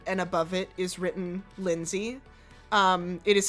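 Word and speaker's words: Lenzee: Um, and uh, you see that a name um, was clearly scribbled over in black marker and above it is written Lindsay. Um, it is spelled L E N Z E E.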